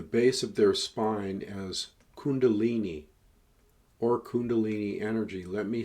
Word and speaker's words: Kundalini: dormant in the base of their spine as Kundalini or Kundalini energy let me spell that for you k u n da l i n i Kundalini energy often likened to a serpent Kundalini